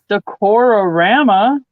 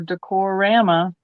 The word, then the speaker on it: Decorama: last Christmas item as the Decora Rama or decorama that needs another syllable in the middle there um next little